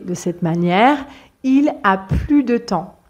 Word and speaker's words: plus: cette manière il a plus de temps il a plus de temps d'accord donc ici c'est une phrase négative et c'est pour ça que je ne prononce pas le S alors normalement pour la